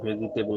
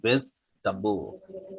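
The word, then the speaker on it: vegetable: হচ্ছে শাকসবজি আপনারা জানেন এটার উচ্চারণ ভেজিটেবল না এটার উচ্চারণ হচ্ছে ভেজবো ভেজিটেব ভেজাবো ভেজবো ভেজাবো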